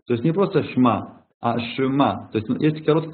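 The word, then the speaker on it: שמע: говорят все знат вот шма Исраэль там первая буква ш а потом ИТ такая главка пошин шма то есть по идее там это шма надо немножко протянуть то есть не просто шма ашма То есть есть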